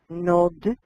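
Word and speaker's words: נאד: un odre de vino, nod, yain. La alef no se pronuncia, pero se escucha, porque se pronuncia como más largo ese jolam.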